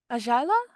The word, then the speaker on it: Ayala: you want to pronounce it as in Spanish, you change the Y by J and you try Mm-hmm. to pronounce that. Give it a try. Ayala?